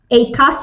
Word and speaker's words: ACAS: Kaya tawag namin ACAS, yun ang pag-pronounce namin.